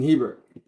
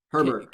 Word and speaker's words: Herbert: then at number nine justin hebert herbert can you say his name right you never say you